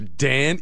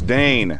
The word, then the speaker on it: Dane: Dan Eagle. No, it's Dane.